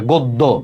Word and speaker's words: গদ্য: জফলা আছে ঠিক আছে তাইলেযে গটা ওর মত উচ্চারণ হয়ে যাবে গদ্য দেখ কল্যাণ দেখ ক শব্দ ক সাথে একটা